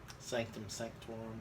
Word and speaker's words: Sanctum Sanctorum: used to help break into Doctor Strange is Sanctum Sanctorum. I say it right? Sanctum Sanctorum.